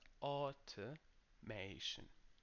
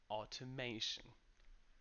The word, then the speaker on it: automation: word is automation so contrary to popular belief we don't start with ow sound that's how we spell